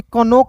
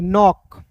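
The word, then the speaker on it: knock: पे के एन ओ सी के नोक इसे कनोक नहीं पढ़ेंगे नोक ठीक है आर ओ सी के रॉक एस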